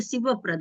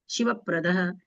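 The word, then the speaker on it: शिवप्रद: ध्यान नहीं गया होगा शिव प्रद वास्तव में उच्चारण होना चाहिए शिव प्रद पर अपने लोग क्या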